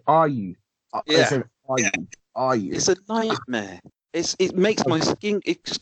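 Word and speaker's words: Ayew: better for this okay it's Jordan are you second syllable not the first one get it right if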